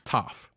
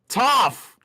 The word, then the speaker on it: Toph: What am I mispronouncing? It's Toph. Toph.